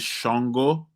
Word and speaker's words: Ṣàngó: place uh sister anusha it is shongo but spelled with just an s-a-n-g-o that s has a dot under it uh which makes the sh sound shongo and uh we covered